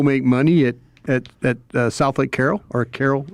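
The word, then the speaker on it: Southlake Carroll: You're not you're not allowing me to go make money at at at South Lake Carol or Carol. I say it wrong. It's You said it right. South Lake Carol.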